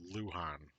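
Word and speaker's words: Luján: Okay, I mispronounced it. It was Lujan.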